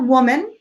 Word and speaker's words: woman: what changes right singular woman oh good woman second syllables either a schwa or a short I sound it woman woman